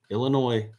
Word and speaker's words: Illinois: And yes, I said it right, Illinois.